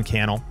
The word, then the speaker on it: Cannell: my name is Cannell rhymes with YouTube channel I want to thank